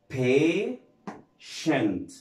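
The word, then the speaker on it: patient: شنت، زي كلمه ها هنحاول برضو مع بعض وهننطقها مع بعض، ها بيشنت، بيشنت، بيشنت يعني مريض او بيجي بمعنى صبور، بيشنت.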